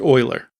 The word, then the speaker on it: Euler: rotation equals quaternion Euler and yes it is pronounced Euler which is also an XY and z value